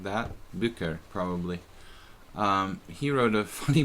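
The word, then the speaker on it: Bücker: I don't know how you pronounce it. B-U-E-C-K-E-R. Bucher, like that. Bucher, probably.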